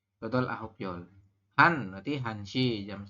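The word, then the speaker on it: 한 시: Kalau jam 1 seperti ini, ya, maka pembacanya adalah, ini tulisannya begini. 1 shi, maka kita bacanya han shi. Ya, untuk jam dibaca menggunakan bilangan asli Korea ya, yang dari hana sampai dengan yol ya.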